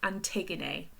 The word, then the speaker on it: Antigone: So it's pronounced Antigone.